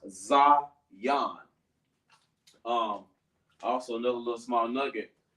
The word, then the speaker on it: Zion: It sounds like a Z-I-yon, but it's pronounced Zion.